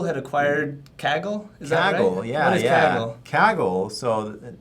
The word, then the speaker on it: Kaggle: that uh Google had acquired kaggle exactly yeah kaggle so not Kegel it was some mispronunciation yeah I'd heard it on a previous